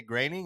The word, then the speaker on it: Groening: point I probably heard somebody who was more closely related to anything Simpsons than me on TV say graining. And I was like, well, that fucking is for sure how you say it then.